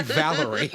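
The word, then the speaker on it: Valere: flashs back and I believe that that it's pronounced Valerie it's clearly Valerie oh Valerie okay uh so I will say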